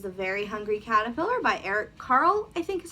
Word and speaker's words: Eric Carle: kindergarten it is the very hungry caterpillar by eric carle i think is how you say it um